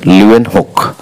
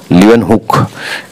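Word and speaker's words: Leeuwenhoek: তো এর সঠিক উত্তর হলো অপশন সি তে রয়েছে লিওয়েন হুক। লিওয়েন হুক, এখানে একটু বানানটা ভুল হয়েছে, লিওয়েন হক নয়, এটা হুক, লিওয়েন হুক।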